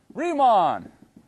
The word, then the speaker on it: Riemann: Rhymes with he-mon. Riemann.